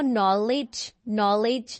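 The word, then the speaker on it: knowledge: आपने देखनी है कि जब भी जो एन है वो के को फॉलो करेगा ना तो के साइलेंट हो जैसे नो नो नॉलेज नो इस तरह की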